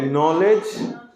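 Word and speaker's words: knell: एस T night Connaught नहीं night अब देखिए नॉलेज तो बहुत दिन से पढ़े हैं लेकिन नॉलेज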